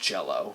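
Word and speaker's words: Jellÿ: But the Y has an umlaut, like those two German dots over the Y, and they say it's pronounced Jello, but it's spelled jelly.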